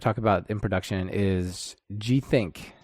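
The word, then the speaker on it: Gthnk: about in production is G think this one's a weird one without the i GTH and k comm yeah so i do pronounce it g think so you got that right it's not actually hosted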